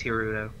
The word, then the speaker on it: Hirudo: It is Hirudo.